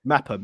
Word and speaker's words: Mepham: Mepham, yeah.